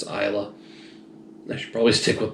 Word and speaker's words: Islay: I've heard several different pronunciations of that, but I've been assured in the YouTube comments by somebody that any distillery worker that makes an Islay malt will back the Islay pronunciation.